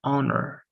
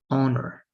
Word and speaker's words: honor: a consonant but here the consonant is unpronounced so it's honor honor so we say an